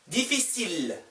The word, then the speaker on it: difficile: 다음, difficile, difficile. 여기에서 L 발음 나와요. L 하나밖에 없으니까. 여기 보세요. famille, L 발음 안 나와요. I, L, L, E, 그냥 famille. 여기 L 하나밖에 없으니까 difficile, L, difficile.